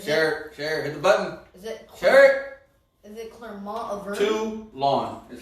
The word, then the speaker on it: Toulon: Toulon is how you say that.